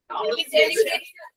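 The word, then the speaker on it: celebration: যদি তুমি নাউন ফর্মটা কি হয় সেলিব্রেট হুম সেলিব্রেশন সেলিব্রেশন হ্যাঁ সেলিব্রেশন ঠিক আছে সেখানে লাস্টে ই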